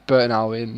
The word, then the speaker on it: Burton Albion: I didn't say it like that badly, but yeah, it's Burton Albion.